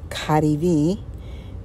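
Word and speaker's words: KaDeWe: and here is the kativi the W is pronounced as a v it's one of the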